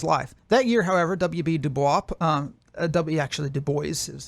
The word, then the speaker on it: Du Bois: Du Bois is how he pronounced it, published Black Reconstruction in America, a